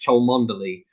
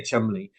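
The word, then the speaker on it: Cholmondeley: spelled it looks as though it should be pronounced chol mandoli but it's just because we're British we say we say Chumley and we have loads of great uh like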